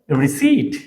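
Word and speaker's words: receipt: এটার শুদ্ধ উচ্চারণ হবে রিসিট রিসিট এইভাবে রিসিট রিসিড লাইব্রেরি ভেজিটাবল হিয়া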